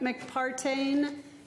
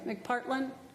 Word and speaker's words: McPartland: So the chair recognizes McPartain and Joan. Partland, I'm sorry, McPartland.